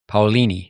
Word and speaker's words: Paolini: Paolini.